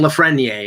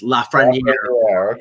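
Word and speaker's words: Lafrenière: um Alexi lafrana Air which I've been told that's the pronoun the correct pronunciation so I was corrected by somebody who speaks French in Toronto I'm saying la friend EI and it's laughs ready yeah so okay but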